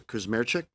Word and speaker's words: Kuzmerchik: Is it Mr. Kuzmerchik? Yes, excellent, Chair.